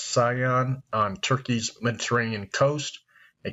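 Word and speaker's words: Ceyhan: That makes Rosneft's control of the export pipeline, which pumps Kurdish crude to I think it's pronounced Sion, on Turkey's Mediterranean coast,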